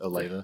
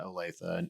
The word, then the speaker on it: Olathe: Is that how you pronounce it? Olathe? Yes. Yeah. You get that growth into Olathe, and that's actually sort